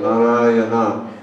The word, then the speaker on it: Narayana: This is the Sanskrit pronunciation, Narayana.